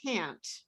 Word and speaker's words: can't: the words can and can't for example in the word can't because fluent english speakers barely say that final t it's almost invisible so you hear people